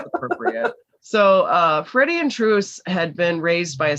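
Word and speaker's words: Truus: freddie over stegen and truce's name is spelled t-r-u-u-s these are dutch names so i listened and i think it's pronounced truce so that's kind of what i'm going to go with so when the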